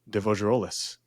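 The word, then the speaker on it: de Fougerolles: You were playing, I forget how to pronounce his fucking name, Devogerolis.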